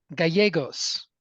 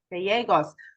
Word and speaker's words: Gallegos: get it ABS absolutely it's a Spanish name and so just going forward when you see two L's together in Spanish it's always pronounced as a y yes so Gallegos Gallegos I should have known